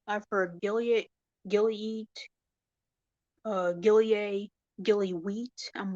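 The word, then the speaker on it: Gilyeat: throws people off so it's Gilead it's not spelled the way how you think it's spelled it's Gilead g-i-l-y-e-a-t the way how some people pronounce my last name is Gilly eat I'm like that's not it but you can pretty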